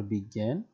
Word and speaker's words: বিজ্ঞান: চন্দ্রবিন্দু জফলা, আর যদি মাঝখানে এবং শেষে হয় সেটা গ কিন্তু দ্বিত্ব হয়, দুইবার উচ্চারিত হয়, গ হসন্ত গ চন্দ্রবিন্দু জফলা।